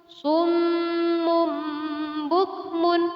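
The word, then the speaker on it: صم بكم: Misalnya, Summun bukmun. Namun cara membacanya adalah summum bukmun .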